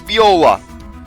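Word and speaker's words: Viola: his name like in I pronounce it wrong it's be Ola so anyways let's get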